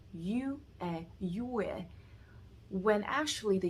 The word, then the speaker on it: yue: They're saying yue, when actually the U here is actually U. It's the U with the umlaut, so it's pronounced as yu, yue.